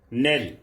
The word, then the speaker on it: knell: So spelling of the word is Knell, but we pronounce it Nell.